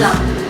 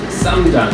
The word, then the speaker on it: 쌈장: Samjang, right? Not samjang. That's really hard for people from Canada or wherever. To pronounce. The difference between sam and sam. Oh, Sam and Sam is very different.